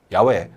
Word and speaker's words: Yahweh: 등장하는 하나님의 성호는 여호와 있니다 야외 또는 야외로 발음되고 하는이 성은 하나님께서 우리에게